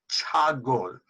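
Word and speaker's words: ছাগল: Okay, the first word is chagol, which means goat.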